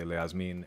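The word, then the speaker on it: להזמין: I would transliterate this, and they do transliterate this elsewhere as le. It's a schwa. It's like a unstressed syllable. But in my transliterations for everything, I say leazmin, and that's what you'll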